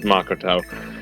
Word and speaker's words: Makoto: think it's monger then I'm pretty sure that's the that's the actual Japanese pronunciation is Makoto I'm fine nothing wrong